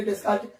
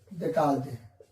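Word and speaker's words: Descartes: आप तो इसको पढ़े हैं, अगर नॉर्मल बच्चा रहेगा पढ़ेगा रेने डेस्कार्ट, नहीं, इसको जो हिंदी में बोलते हैं रेने डेकार्टे, रेने डेकार्टे।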